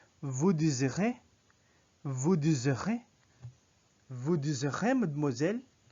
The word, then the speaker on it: désirez: Or we could say Z because it's just single S. Vous désirez.